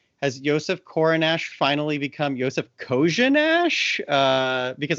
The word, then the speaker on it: Korenar: And he said Korenar.